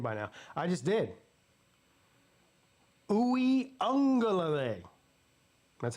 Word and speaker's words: Uiagalelei: After Uiagalelei spent 10 years at Clemson, Pigskin should know how to pronounce his name by now. I just did. Uiagalelei.